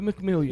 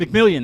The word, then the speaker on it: McMillian: Is that how you say it? Bo McMillion. McMillian. That's right. It is.